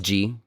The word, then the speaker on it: Jee: G. I don't know his name. It was like it's spelled Jee.